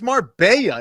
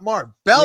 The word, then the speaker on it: Marbella: John, first of all, it's Marbella. It's not Marbella.